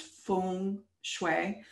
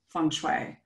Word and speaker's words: feng shui: So feng shui is really pronounced feng shui.